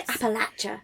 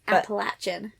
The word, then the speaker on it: Appalachia: know filler and well I say Appalachia yes in in the actual accent appalachin but yeah cuz I don't have it sounds silly to me if us try and say it like that it follows a trans